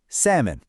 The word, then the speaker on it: salmon: The answer is a silent L.